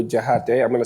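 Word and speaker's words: Diakhate: Jihat. I'm going to spell it for everybody.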